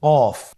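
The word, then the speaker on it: ق: কফ উচ্চারণের ক্ষেত্রে অবশ্যই 3 আলিফ টেনে পড়তে হবে।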